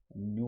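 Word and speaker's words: ν: So this v, it's not v, it is nu, pronounced as nu.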